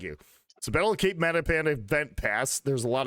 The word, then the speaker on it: Matapan: I actually looked up how to pronounce this before I started stream, and I'm still going to burn it. Multipan. That's what I'm going on. Cape Multipan. Matapan.